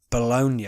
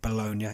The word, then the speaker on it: Bologna: a big crash in Bologna I believe that's how they say it Bologna in Italy where a tanker lorry carrying